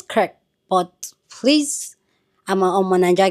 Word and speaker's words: Kirk: I say Craig, I say Kirk. So I know it's Kirk, but please, I'm a Niger guess.